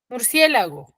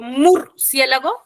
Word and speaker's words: murciélago: Murciélago, ¿cuántas sílabas tiene? Murciélago.